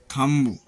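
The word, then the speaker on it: thumb: B silent, M के बाद आया हुआ बी प्रायः साइलेंट रहता है, जैसे कॉम्ब, कंघी, लैम्ब, भेड़ का बच्चा, थंब, अंगूठा, टॉम्ब, मकबरा।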